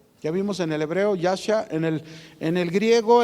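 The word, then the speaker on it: ישע: describe salvación es una palabra con i gri yasha y a s a yasha repito y a s a así se escribe y significa yasha que es se traduce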